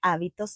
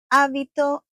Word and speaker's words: hábito: Hábito de sueño. Sleep. Habit. Don't forget, don't pronounce the age. H is silent.